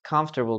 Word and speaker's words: comfortable: Be careful with the word comfortable, guys.